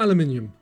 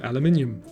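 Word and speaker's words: aluminium: Steel, tin, or aluminum? And for my American viewers, don't laugh. That's how we British say aluminum.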